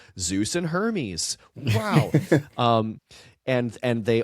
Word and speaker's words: Zeus: But the thing is, it's it's not Zeus, it's Zeus with almost like a D in it.